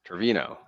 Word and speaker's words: Trevino: Trevino. That is not how you say it. Trevino. Trevino. There is no yo at the end of this. Trevino.